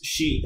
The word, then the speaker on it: Xi: Pronounce Xi, S-H-E, written X-I. X-I, that is Xi.